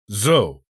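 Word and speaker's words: Zuo: t sound the general's real surname was actually zou which is pronounced z-u-o rather than the so that we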